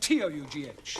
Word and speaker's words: tough: Now, Ranjit, how do you pronounce the following? B-O-U-G-H, C-O-U-G-H, and T-O-U-G-H.